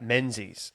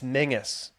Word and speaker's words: Mingus: Well, you know, I'd say my name to a new teacher and they'd read out menses and all the school kids, all 30 of them would go, "It's Mingus."